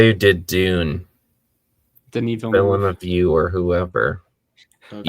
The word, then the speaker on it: Villeneuve: was the guy who did Dune, Denis Villain Villeneuve. of You or whoever. Okay. Yeah, Pretty what sure it's Tyler pronounced just Denis said.